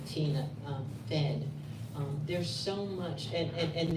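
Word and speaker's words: Tena: And so, Jack is in the same family grouping with a woman named Tina. And it's spelled T-E-N-A, not T-I-N-A.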